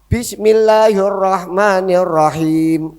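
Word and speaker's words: بسم الله الرحمن الرحيم: Karena alif ketemu lam al nggih. Al ketemu ro mesti lamnya hilang. Pak namanya alsamsiyah dalam ilmu tajwid nggih.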